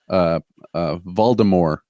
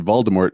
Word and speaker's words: Voldemort: Rowling wrote Harry Potter, she originally wanted the bad guy to be called Voldemort, like with a French. Oh, sure, yeah, kind of a French. Yeah, I vaguely recall this. Yeah. And then when the first audiobook came out, he said Voldemort, and she was just like, "All right, okay, Voldemort." Yeah.